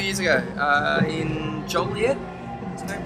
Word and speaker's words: Joliet: Yeah, 2 years ago in Joliet. Is that pronounced it? Joliet, Joliet, Illinois.